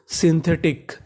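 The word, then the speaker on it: synthetic: एस वाई को पढ़ते हैं हम लोग शी। यानी अगर आपको इंग्लिश में कहीं पर एस वाई लिखा मिला है तो उसका उच्चारण सी करना है और आगे है हमारा एन तो ये आधा हो गया हमारा सीन टी एच ई इसे पढ़ेंगे थे सिंथे टी आई C tick सिंथेटिक सिंथेटिक इसका मतलब होता है कृत्रिम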